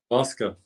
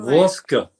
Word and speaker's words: Voska: like vodka for pronunciation. Yeah. Voska. All right. Well, Voska.